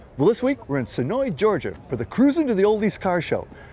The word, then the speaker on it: Senoia: Senoia, not Senoia. No. Even though that's how it's spelled.